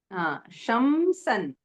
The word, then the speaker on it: शंसन्: त्वद्भक्तिमागसि कृतेऽपि कृताञ्च शंसन् Shamsan. Okay, Sha and sa शंसन् are there, no? So need Okay. to pronounce it little carefully.